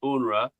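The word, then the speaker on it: UNRWA: It's been a lot of the news is pronounced UNRA.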